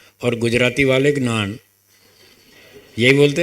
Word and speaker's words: ज्ञान: संस्कृत वालों ने हमको ऐसे ही सिखाया कि इसका शुद्ध उच्चारण है ज्ञान।